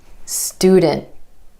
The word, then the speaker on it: student: So for example, the word student instead of student. Student. My tongue stays up for the t sound after the n.